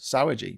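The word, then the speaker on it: Sauer: Sour. No. Sour. It's spelled S A U E R.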